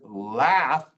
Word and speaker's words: laugh: So let me give you some examples of the word laugh ends in GH, and it's not, the GH isn't silent. It sounds like a letter F. Don't know why, but that's the way it is.